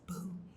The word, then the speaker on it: Bue: name is I go by Buu pronounced like buo my pronouns are they them theirs or you can also call me Boo I identify as a queer trans non-binary human